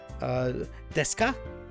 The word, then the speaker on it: desu: Deska, non deska. It's spelled out like desu, desu, but you just say des.